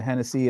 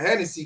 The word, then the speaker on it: Hennessy: Hey, you know what they say, you got to be careful with Hennessy because it rhymes with enemy face.